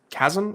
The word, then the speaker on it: Chasm: First appearance of Chasm. Is that how you say it? Chasm, you got it.